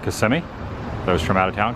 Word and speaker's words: Kissimmee: The locals call it Kissimmee. Those from out of town call it Kissimmee.